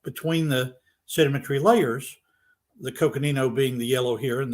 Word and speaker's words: Coconino: and when we look at um the correct pronunciation by the way of that sandstone in the canyon is the Coconino Sandstone near the top when you look at